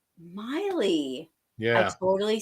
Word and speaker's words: Maile: do you say it it's like miley cyrus miley yeah i totally say